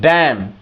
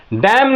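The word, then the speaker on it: damn: डी ए एम एन डम डैमन लोग बोलते हैं डैमन लेकिन एम क्या है साइलेंट है ये डैन डैम एन क्या हो गया साइलेंट हो गया इसको क्या कहेंगे हम डैम कहेंगे ठीक है अब यहां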